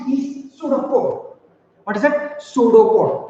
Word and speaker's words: pseudopod: Pseudopode. P is silent and this is pronounced as pseudopode.